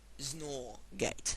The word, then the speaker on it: XNOR: gate called the uh exclusive nor gate or xnor gate and as I pronounce it zor gate the zor gate um and the exclusive